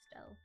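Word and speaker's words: Stelle: It might be Stell. The E at the end is silent. Ah, so it is Stell.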